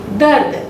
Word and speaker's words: दर्द: इसका प्रोनाउंसिएशन यहाँ आ रहा है, दर्द। लेकिन दर्द जब हम बोल रहे हैं तो ये र का जो उच्चारण है ये आधा है।